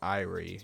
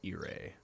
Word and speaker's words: Irie: um Celsius not so I burned it's not irie it's irae that's how you pronounce it yeah one of the characters heard